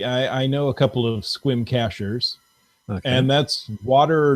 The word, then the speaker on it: Sequim: Now, sorry, how's that pronounced? Squim. Squim. So it's not Sequim. It's not Sequim. It's Squim.